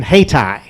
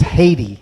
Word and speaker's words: Haiti: troops to stop the chaos in hati and of course visit to the control room there and it's it's it's Haiti it's Haiti you got to train